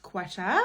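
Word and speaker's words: Quetta: It's a very beautiful looking mountainous place, but they do pronounce the Q as a qua.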